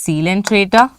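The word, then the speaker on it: Ctenophora: okay here it is cant tror okay here it is students actually two c is silent so too for where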